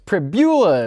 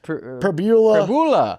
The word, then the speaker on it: Pribula: Before the show, I mean, it was Pribula. It was Pribula. Fibula. Tibula.